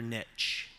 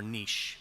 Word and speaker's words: niche: Finding your niche, or niche, depending on your pronunciation preference.